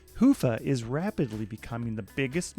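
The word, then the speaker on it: Hyvä: to Commerce is sponsored by hia or as the Europeans say hoofa or the right way to say it hufa is rapidly becoming the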